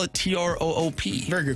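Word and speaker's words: Troupe: By the way, everyone's saying that it is pronounced Troop. T-R-O-U-P-E. I didn't see the R. I thought it was toupee.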